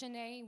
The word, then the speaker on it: Chané: Just Chané with the accent on the E. It's very important.